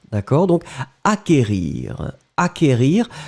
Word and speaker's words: acquérir: Acquérir, le CQ, en fait, vous ne prononcez pas vraiment vous n'allez pas allonger le que, vous l'avez juste prononcé acquérir.